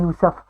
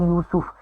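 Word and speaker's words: يوسف: सूरत यूसुफ, ये सूरत जो है यूसुफ मैं आपको कह रही हूँ, और अक्सर आम लोग हम कहते हैं यूसुफ, तो आज से आप ये सुन लें। ये देखें सीन के ऊपर पेश आपको नज़र आ रही है, ये लफ्ज़ है यूसुफ।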